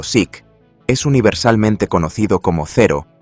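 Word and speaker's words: Zeke: Aunque el nombre en clave oficial de los aliados era Seque pronunciado Sic, es universalmente conocido como cero por su designación naval japonesa.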